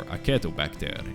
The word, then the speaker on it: Acetobacter: help of bacteria called acetobacter or a keto back there if you want to use a classical pronunciation that industry was popular